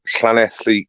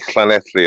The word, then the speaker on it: Llanelli: go you've got a you've got to pronounce Clan athlete correctly um no that's that's much better yeah okay there's an awful there's awful lot of English people trying to see planetly and they they can't they didn't come close okay